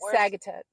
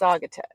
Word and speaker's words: Saugatuck: Well, you said what I said, but I think it's Saugatuck. Remember, because he kind of broke it down for us. Saga. And then Tuck.